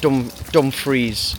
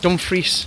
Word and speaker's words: Dumfries: So first off, it's not Dumfries. No, what is it? Dumfries. I think it's Dumfries. I've been saying it wrong.